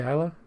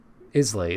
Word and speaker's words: Islay: Wait, did I just say Isila? Islay. It's pronounced Isl Campbell Town is a Scotch region named after the town of Campbell Town on the southern Scottish peninsula.